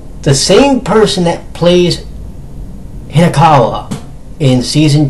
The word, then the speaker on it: Hinakawa: I always mispronounce this. Is it Hanakawa? Let me check. Yeah, Hinakawa.